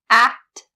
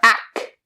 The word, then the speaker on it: act: Both the K and the T sound have to be very clear. Kt, kt. Do not drop a single one. You don't say act or ack. They both have to be there.